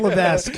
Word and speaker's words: Levesque: No, Paul Levesque. Paul Levesque. Oh, okay, no. Or Levesque? Levesque? I think the S is silent.